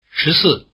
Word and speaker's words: 十四: 14 has the falling tone.